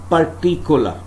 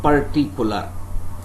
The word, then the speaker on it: particular: words for example if there is a word particular this is what mostly the people say particular but exact pronunciation of this word is when you are applying weak form particular particular okay here the second